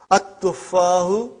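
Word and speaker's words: التُّفَّاحُ: But now your mind knows that that is a sun letter, so you will pronounce as at-tuffahu. You will put a shadda anta.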